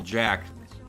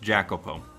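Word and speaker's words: Jacopo: if they called him little Jack it's pronounced jackoo I am a dumbass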